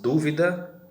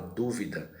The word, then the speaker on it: dúvida: acento nesse caso aí o acento agudo colocado aí na primeira palavra dúvida então é este assento que vai marcar a sílaba tônica aquela mais forte então quando você vai